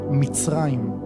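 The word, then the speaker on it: מצרים: Egipto en hebreo se pronuncia mitraim. Mitraim.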